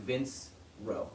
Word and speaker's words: Vincero: It's spelled like Vince Row, Vincero.